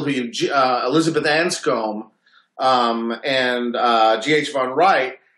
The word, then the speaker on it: von Wright: von Wright, von Richt, I think it's pronounced.